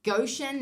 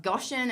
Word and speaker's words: Goshen: It's Goshen, not Goshen.